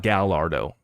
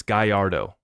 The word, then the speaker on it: Gallardo: It's not Gallardo. It's Gallardo.